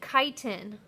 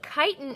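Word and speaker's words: chitin: major part of the plant cell wall and kiten careful pronouncing that I know it can get interesting um but kiten is a polysaccharide that is found in the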